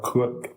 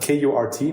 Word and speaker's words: Kurt: Kurt or Kurt? Well, Kurt. Kurt. K-U-R-T. Okay. And basically you don't really pronounce the R in it, so it's more like Kurt.